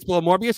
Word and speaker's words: Morbius: it's below things like morbi morbius is it morbius did I just say it right or wrong Mor morus morbius it's morbius it's below the Marvel Marvel is it below